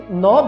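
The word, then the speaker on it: knob: तो ये ऐसा वर्ड है, नॉब ऐसा वर्ड है जो कि अपने अंदर एक साइलेंट रखते हैं।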